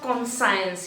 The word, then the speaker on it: conscience: I have observed that children always pronounce it wrongly. It is not conscience. यहाँ पे CONSCIENCE, ये साइंस का spelling दिख रहा है आपको, तो बहुत बार आप इसको wrongly pronounce करते हो। That is conscience. It is wrong. It is conscience.